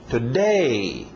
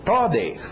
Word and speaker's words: today: Today. Today, a tendência de quem fala português seria dizer today. Ok, não. Olha o ritmo do inglês. Today.